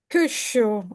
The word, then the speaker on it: Kyushu: Very good analysis, and also the focus on Kyushu is a pronunciation. Kyushu. I'm sure that Kyushu.